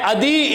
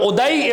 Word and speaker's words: عدی: جن کا نام ہے عدی ابن حاتم طائی، یا ایک تلفظ اس کا یوں ہے ادئی ابن حاتم طائی۔ اب یہ عدی کہیے یا ادئی کہیے، یہ جو عدی ابن